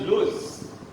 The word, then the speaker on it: lose: Most people pronounce both of them as loss, but actually this one is lose, and this one is loss.